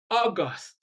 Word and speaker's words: August: If a two-syllable word is used as a noun and also as an adjective, stress the first syllable when it is a noun and stress the second syllable when it is an adjective. For example, the word August is a noun. The month of August, that's a noun. But when you are talking of an august visitor or an august occasion, that is an adjective.